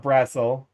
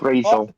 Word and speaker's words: Brazil: I can't remember if it's a Z or an S, but yeah, here in Indiana we have a town called Brassel. It's spelled Brazil. Your response? Well, because like, Brazel.